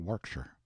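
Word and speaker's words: Warwickshire: Pronounced Cubri Flanover Marshbank Sellers Viccount Barkley of Chumley Castle, Warshire.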